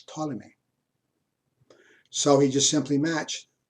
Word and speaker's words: Ptolemy: One is Ptolemy, spelled with a P, Ptolemy, which is, excuse me, you saw it here.